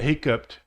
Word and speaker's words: hiccuped: cleaned hiccuped and yeah hiccupt is and actually the hiccups should be over here on this this side I made a mistake so hiccupt is a PT sound answered breathed arrived followed